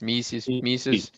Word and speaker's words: Mises: him on the pronunciation like Reese's Pieces Mises you throw the eye a little harder and you're there but yeah it did